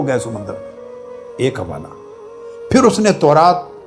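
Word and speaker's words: Psalms: लिखने में पी एस ए एल एम एस लिखते हैं। मगर पी और एल दोनों साइलेंट होते हैं।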